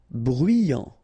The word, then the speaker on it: bruyant: Bruyant. Final T not pronounced. So you get bruyant.